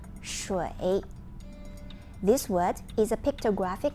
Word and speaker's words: 水: First, the pronunciation of water is 水. 水.